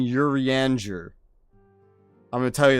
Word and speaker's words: Urianger: this and start saying urianger I'm going to tell you that right now there's no way I'm going to remember this like French pronunciation what are you g